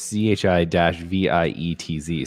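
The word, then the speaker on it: Żywiec: Zviets. It sounds like you practiced that It's too. ZHI. Well, the pronunciation is ZHI-VIETZ. So I'm gonna go with Zviets.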